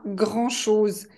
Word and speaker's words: grand-chose: ça ne coûte pas grand-chose ça ne coûte pas grand-chose donc attention à la prononciation on ne prononce pas le D parce qu'il n'y a pas de e du féminin un grand donc grand